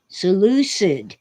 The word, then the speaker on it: Seleucid: Ditch says it's pronounced Seleucid. Well, it is in England, but I'm an American.